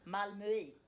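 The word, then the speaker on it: Malmö: How do you say it? Malmu.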